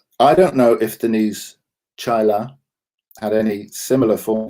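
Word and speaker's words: Chaila: don't repeat the trauma chyla like chai tea but with at the end chai she even has a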